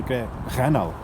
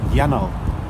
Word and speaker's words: yennal: that tells us that 'gennal' goes to 'yennal' when it is mutated, it doesn't matter if we write it with 'gh' or 'y', we always say 'yennal'.